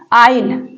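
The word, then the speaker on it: aisle: के बाद एल आए तो एस के बाद अगर एल आएगा तो वहां पर क्या साइलेंट होगा यस साइलेंट होगा इसको आइल बोलते हैं आइल ठीक इसको आइल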